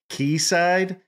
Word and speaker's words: quayside: been in there before keyside is spelled quu a y s i d e so if you hear someone say keyside that's what they're that's what they're referring to it